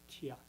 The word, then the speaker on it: tea: It's not actually called tea.